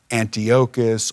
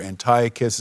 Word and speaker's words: Antiochus: by the name of Antiochus or Antiochus is another way to pronounce it and they were having